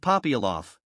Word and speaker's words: Popyalov: The accent falls on the second syllable of Ivan, on the first of Popyalov.